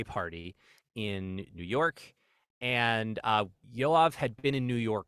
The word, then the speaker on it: Yoav: I don't want to mispronounce his name. Is it Yoav? Yoav.